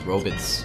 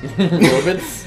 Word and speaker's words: robots: twilight zone yeah and back in the 50s apparently they pronounced robots as robits robits I'm not no joke